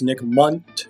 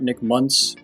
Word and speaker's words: Nick Munt: one thing clear that it's nick munt not nick muntz who's in the commercial